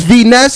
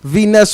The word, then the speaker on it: V Ness: Is this V Ness? Going on? Yes, it is. How you V Ness on the calling.